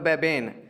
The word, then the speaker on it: Mbabane: इसका जो executive capital है वो है बेबेन, MBABANE बेबेन। M जो है ना यहाँ पर साइलेंट है, MBABANE बेबेन एग्जेक्टिव कैपिटल।